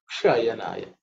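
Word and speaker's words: क्षयणाय: This Ksha is, the tongue should be, the Ksha is cerebral Ksha. So Kshayanaya.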